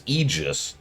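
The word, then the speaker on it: Aegis: I I keep getting screwed up because Eegis is how you pronounce the shield and Aian is how you pronounce the C and they look irritatingly similar.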